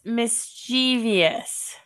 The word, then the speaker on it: mischievous: Um, but I pronounce this mischievous.